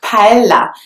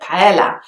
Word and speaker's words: paella: But then the next one is paella, which a lot of people in the UK would actually pronounce with an L sound instead of the y sound that you will find in tortilla. So they will say tortilla, but paella. And then if you go to Spain, you will know that people actually call it paella instead of paella.